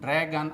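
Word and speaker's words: dragon: दोस्तों इस लिस्ट के सबसे अंतिम दो शब्द ड्रैगन और पैरागन में GON का प्रोनाउंसिएशन गन होता है।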